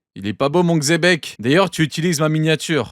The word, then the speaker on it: Xebec: Regardez, il est pas beau mon Xebek. D'ailleurs, tu utilises ma miniature. Donc tu dis pas Chebek, tu dis Xebek.